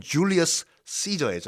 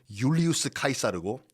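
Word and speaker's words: Iulius Caesar: 영어는 줄리어스 시저이지 않습니까? 로마식 발음은 율리우스 카이사르고 거기서 이제 그 이름들이 나왔어요.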